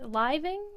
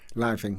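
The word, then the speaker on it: Liveing: was reading but first tell me if I'm pronouncing the person's name right Edward living living yes okay so I'm I'm going to read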